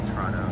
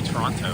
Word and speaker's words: Toronto: Only Torontonians say Toronto. That's... I guess so, yeah. Because I guess people from around the city just say Toronto. They say Toronto.